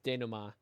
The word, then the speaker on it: Dana: and then the den it's Dana remember in ring code that's how it's pronounced because she said it that's how that's how I knew it was Dana the doar Wesley sticker